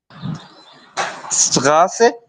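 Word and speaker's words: Straße: स्ट्रासे। बिल्कुल ठीक, स्ट्रासे, स्ट्रासे, ठीक है। डबल एस की साउंड है, स्ट्रासे।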